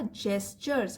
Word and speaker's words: gestures: यहाँ पे जी है, उसका प्रोनाउंसिएशन होगा जेस्चर्स, हाव भाव दिखाना, सिंसेरिटी ईमानदारी.